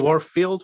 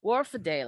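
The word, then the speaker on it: Wharfedale: Warfield? Yeah. No. Oh. No. Warfadale.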